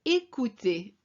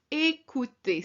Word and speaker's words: écouter: So the first one we have here is écouter, écouter, so listen, écouter, écouter. And then we have regarder, regarder. And both these words have got this EZ ending, so that's an A sound. So regarder, écouter.